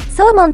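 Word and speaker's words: saumon: よく使われているのは、鮭、サーモンと発音します。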